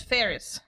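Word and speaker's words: Faris: Yes, I still I keep pronouncing it Fis because that's what my Mayori says. Yeah. Oh, she says No, she says Ferris, but I But it's Ferris.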